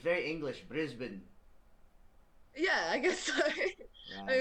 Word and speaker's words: Brisbane: Show me how to pronounce it again. I've been tripping over your accent, for the last couple of years. Brisbane.